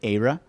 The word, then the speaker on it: Aira: download and install the Aira app from the App Store or from the Play Store. If you're using VoiceOver, you do have to pronounce it Aira versus our actual name, which is Aira.